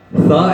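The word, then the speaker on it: ثا: Then سا, سا, سا ایسا تلفظ ہے کہ سیٹی نہیں نکلے, سا نرم, ٹھیک ہے.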